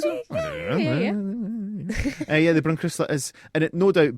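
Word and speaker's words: Brunkrissla: We have got a Brunkrisla. Brunkrisla.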